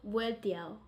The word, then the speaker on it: vueltiao: How to pronounce Vueltiao. vueltiao. Sombrero vueltiao.